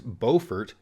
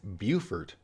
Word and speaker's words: Beaufort: In North Carolina, it's Beaufort. In South Carolina, it's Beaufort.